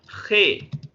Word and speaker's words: ge: इसको हम लिखते हैं GE, लेकिन पढ़ते क्या है, खे।